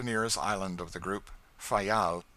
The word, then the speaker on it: Fayal: island of the group fayal the people there pronounce it file and put the accent on the first syllable we anchored in the